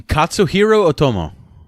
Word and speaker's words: Katsuhiro Otomo: so this guy's smart this filmmaker you know kiss arroyo Otomo i'm trying to pronounce that he wrote and directed this film Katsuhiro Otomo that's a hero Oh Tomo there you go